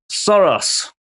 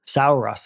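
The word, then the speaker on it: Saros: Uh, Soros. Yes. Suros, I think it's pronounced.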